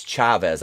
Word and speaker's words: Chavez: If I don't want to pronounce it wrong, it's Chavez. I got corrected for that the other day in one of my videos.